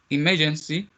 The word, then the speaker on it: emergency: this one and for the last one we have emergency emergency you have for syllable in that word and the stress one is the first one as well all right very very